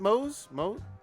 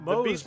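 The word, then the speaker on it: Moze: I think you pronounce it Mose. Yeah, Mose.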